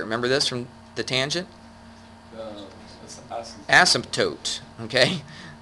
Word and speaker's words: asymptote: Asymptote. Okay? It sounds weird putting that P in there, but I guess that's how you pronounce it.